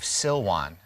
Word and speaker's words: Silwan: the arab village of silwan it sounds like the word siloam as in the pool of siloam it's the same word off to the right